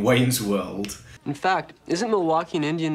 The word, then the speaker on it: Milwaukee: Cooper's cameo in Wayne's World in fact isn't Milwaukee an Indian name yes Pete it is actually it's pronounced miliwake which is Algonquin for the good land and